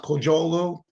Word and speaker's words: Kocaoglu: Last name's pronounced Kocaoglu, and it was actually Kodak, not Xerox.